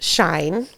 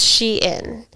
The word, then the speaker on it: Shein: it to Sheen so I thought it was pronounced shine and I thought it was Sheen but it's she in lots of people pronounce it incorrectly even the